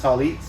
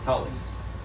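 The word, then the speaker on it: טלית: this 1999 right this is the talit um the ashkenazis call it tallis because that child has a dog-ish in it but to us now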